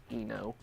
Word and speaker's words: Eno: Eno. Eno rhymes with emo.